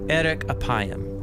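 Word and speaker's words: ארך אפים: In Hebrew, the phrase slow to anger is pronounced erek apayim, or literally long of nose.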